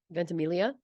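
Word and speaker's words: Ventimiglia: Is Us Milo how do you say that ventimilia thank you uh and Dirty Dancing Patrick Swayze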